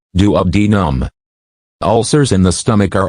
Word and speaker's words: duodenum: Peptic ulcers affect the stomach and the upper part of the small intestine, called the duodenum, pronounced duodenum.